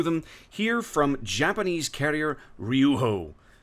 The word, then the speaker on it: Ryūjō: here from Japanese carrier Rijo I think I'm pronouncing that right I think the J is technically kind of silent or you pronounce it like an H I don't know I'm